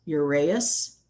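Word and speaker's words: uraeus: So, um the So, I'm trying to figure out how to pronounce this. the ur the ureas which is the snake and this is spelled u r a e a u s urus um is what I'm going to go with um is a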